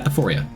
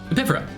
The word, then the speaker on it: Epiphora: It's not Epiphoria. I even spell it wrong in my notes. Epiphora.